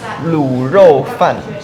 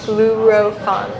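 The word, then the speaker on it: 滷肉飯: Mandarin oh I told you one more time luro fun luro fun fun yeah fun fun fun yes rice Lou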